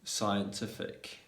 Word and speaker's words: scientific: better communication yeah so the letter c is normally going to be silent when it comes yeah when it comes after the letter s and before i e or y so for example